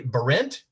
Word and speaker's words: Behrendt: your last name berent did i get it right it's very close i just just just put the emphasis on the first syllable and you've got it right okay well now that